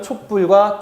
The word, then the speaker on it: 촛불: 그래서 촛불이라고 쓰고 발음은 촛불과 촛불 두 가지를 모두 허용하고 있습니다.